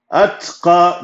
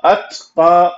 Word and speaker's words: الأتقى: أتقى, أت, ت, ت, only tip of your tongue will pronounce that because of the سكون in the ta.